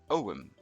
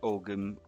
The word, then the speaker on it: Ogham: have the mysterious om this is an ancient Irish alphabet and it's pronounced Owen not ogum or of him just